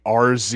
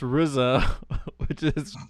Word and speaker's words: RZA: yet get a fresh take of you saying our za you got damn it John I'm so mad